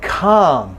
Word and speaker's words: calm: Okay, then a word like calm, it's ah, it's clearly ah, no L.